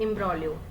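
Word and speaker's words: imbroglio: इसमें जी साइलेंट रहता है, ठीक है। इम्ब्रोलियो इसका मतलब होता है एक जटिल समस्या, उलझन, स्थिति, ठीक है।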